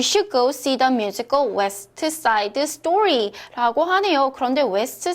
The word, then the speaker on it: West Side: 자, 자음 소리가 3개 있을 때 중간 자음은 탈락입니다. 자, 이게 무슨 뜻이냐? You should go to see the musical West Side Story. 자, West Side 이렇게 발음을 안 하고요.